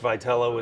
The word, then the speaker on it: Vitello: This is the manager of the San Francisco Giants, Tony Vitello, or as I like to introduce him, as a 1997 Missouri State soccer champion from DeSmet High School.